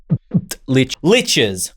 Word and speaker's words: liches: How to make Liches Liches rhymes with stitches, which many Liches have to keep their mortal remains from rotting away.